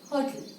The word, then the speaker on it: hotel: This is hotel. Hotel. Ho. This sound is inside. Thal. T is clearly pronounced. So there is the second syllable stressed.